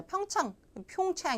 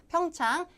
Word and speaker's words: 평창: 평창 가지고 그 발음을 뭐 하루 종일 연습하신 분들이 있는데 그 지명이나 그 고유명사 같은 것들은 발음 신경 쓰지 마세요. 그냥 한국어처럼 하시면 돼요. 자, 평창 이렇게 할 필요 없고 평창 Winter Olympics.